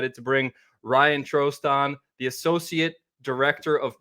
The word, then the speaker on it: Trost: this is a funny story, but it's actually Trost. Well, thanks for coming on, man. Is it Facundo? Is that proper pronunciation?